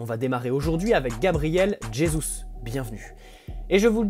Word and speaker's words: Jesus: En effet, le Brésil n'est pas un pays hispanophone. À la différence de la Colombie, par exemple avec Rames Rodriguez, le J ne se transforme pas en R chez les Brésiliens qui prononcent donc Jesus.